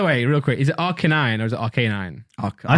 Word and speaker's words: Arcanine: That's how they say it in anime, but it's literally Canine, isn't it? Yeah. Canine and then Arcane. So it's like Arcanine.